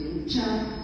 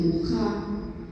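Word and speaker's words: Mucha: Bueno, esta es ya una imagen más sensual de Muchá, se escribe Muchá, en checo dice Mujá, como ven, rodeada de flores, muy exótica.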